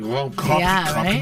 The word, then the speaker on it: Grand Prix: I work at the Grand Prix of Montreal. I like how you said that. Grand Prix Montreal. That's how you say it.